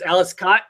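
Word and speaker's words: Aleš Kot: I always say Alice Cott. Okay, so it's Alice Cott.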